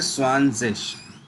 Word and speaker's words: zwanzig: 20 को बोलते हैं स्वानजिश। ठीक है, अगर मैं हिंदी 30 प्रोनाउंसिएशन लिखूं तो स्वान और जिश, ज।